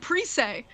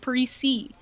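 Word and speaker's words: Zach Parise: i think i think wild fans always said paris a but maybe it's that's what i thought too like they always said pre-say and so i always pronounce it that way and then he comes here he's like this is zach parisi and i'm like oh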